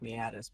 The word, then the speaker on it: meatus: to run up here urinary mies meet us normally that's pronounced meatus but nah meet us his way yeah it's